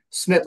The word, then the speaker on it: Smyth: So that's Smith with a Y.